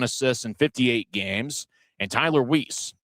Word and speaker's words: Weisz: And Tyler Weisz, w e i s z, but the pronunciation guide for for Indy says Weisz.